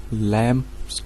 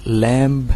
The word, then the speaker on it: lamb: ए wolf इन लैम्स clothing. ए wolf इन लैम्स clothing. Friends LAMB, ये लैम्ब नहीं होगा, ये बी है वो साइलेंट है, इसका होगा लैम्ब।